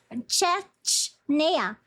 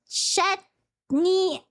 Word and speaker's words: Chechnya: Chechnea.